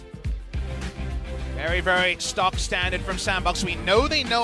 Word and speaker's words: SANDBOX: Their name actually has 4 syllables in Korean. SANDBOX. So, not the 2 you would expect in English, which is a sandbox, right?